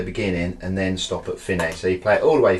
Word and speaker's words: Fine: a little bit confusing looks like work fine but I've been told by proper musicians it's pronounced fini like that that's good I'm going